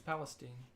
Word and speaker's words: Palestine: Oh, Tommy's trying to tell me how to pronounce Palestine. It's Palestine.